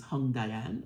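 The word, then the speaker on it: Hongdian: although I did go I did do a pronunciation on Google and Google said is hung Dian and I'm like I'm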